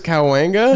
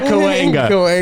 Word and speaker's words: Cahuenga: I think it's Cahuenga. Yeah, Cahuenga.